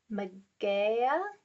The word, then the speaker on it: Mageia: In ancient Greece, magic was known as, these words are going to be hard to say, Magia or Goetia. I'll spell it.